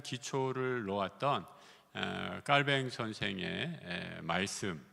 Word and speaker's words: 칼뱅: 갖고 있는에 장칼뱅이라고 하죠 우리 영어로는 존 갈빈 칼빈이 하는데에 우리 깔뱅 선생이이 스위스에서 활동했기 때문에에 불러 발음으로 자 깔뱅 이렇게 하는데 그분의 생각이 어떤 생각을